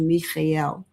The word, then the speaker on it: Michael: Um he told me to pronounce his name Holy Archangel Mikel.